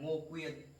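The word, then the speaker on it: Ngô Quyền: In Vietnamese, we pronounce it Ngo Quyen, Ngo Quyen.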